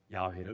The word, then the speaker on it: 야훼: 순복음교회에서는 그 여호와를 야훼, 원래 그 본 발음이 히브리어가 야훼거든요. 야훼를 우리나라로 번역을 해보니까 여호와로 지칭을 하게 된 거지요.